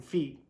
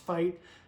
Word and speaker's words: FEIT: fight f-e-i-t footwear okay i thought it was feet i thought he was misspelling feet f-e-i-t i read that as feet apparently it's pronounced fight love the play on